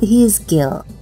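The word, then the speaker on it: حزقيل: Dialah Nabi Yehezkiel, atau dalam pelafalan bahasa Arab disebut Hizkiel.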